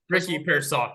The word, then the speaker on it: Pearsall: And though how much I love Ricky, how do you pronounce it? Ricky Pearsall. Yeah. Pearsall, thank you. Pearsall.